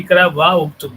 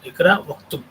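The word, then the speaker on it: اقرأ اكتب: Because this Alif is Hamzatul Wasl, so if it is preceded by any word, this Alif gets assimilated in the pronunciation. Ikra Uktub. We should not say Ikra wa Uktub. No, Ikra Uktub.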